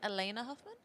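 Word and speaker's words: Alaina Huffman: absolutely I think one person uh is it pronounced Elena Huffman yes I'm super excited to to meet her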